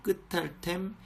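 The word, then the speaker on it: קְטַלְתֶּם: 뭐 이런 식으로 읽이는데 요 같은 경우는 요 쉐바모에 붙어가지고 끝탈템, 끝탈텐이라고 읽으시는 것이 좋습니다.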